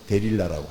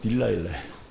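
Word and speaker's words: Delilah: 그래서 영어로는 데릴라라고 해요. 그리고 저기 그 영국식 발음으로는 딜라일라예요.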